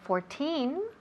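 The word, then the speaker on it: fourteen: And then 14, 14, 14 lleva el énfasis where? In the last syllable. Okay, 14.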